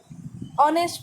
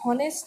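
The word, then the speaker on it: honest: H silent है। ऑनेस्ट पढ़ते हैं, हॉनेस्ट नहीं पढ़ते, ऑनर पढ़ते हैं।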